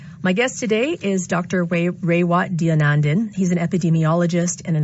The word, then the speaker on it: Raywat Deonandan: Raywat Deonandan.